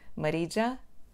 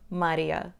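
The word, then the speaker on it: Marija: de bem-vindos a e os falantes de espanhol pronuncia o meu nome Maria hum os paletes de inglês pronunciam como Marisa enquanto os portugueses pronuncia o meu nome Marisa e nada disto está certo eu sou a Marília o meu nome na língua Sérvia que a minha língua materna escreve-se com a letra J mas tem um som liga o que significa que se pronuncia a Marília só com acento diferente então não é Maria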